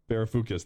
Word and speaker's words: Varoufakis: I think Yanis Varoufakis, I can never pronounce his last name. Right? Yanis Varoufakis. Varoufakis, that's it.